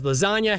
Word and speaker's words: lasagna: in silence like lasagna, because lasagna has a silent G in it, but you kind of have to go backwards as an audience member to make sense of it.